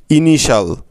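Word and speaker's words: initial: সুতরাং এই শব্দটা থেকে আমরা মোট 2টি সিলেবল পেলাম, যেমন INI ইনি এবং TIAL শাল, ইনিশাল। দেখলে তো বন্ধুরা, কত সহজে তোমরা এত কঠিন শব্দের বানানটা সঠিকভাবে করে ফেলতে পারছো।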